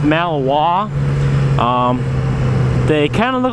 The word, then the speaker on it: Malinois: That's how it's spelled, but it's pronounced Malinois.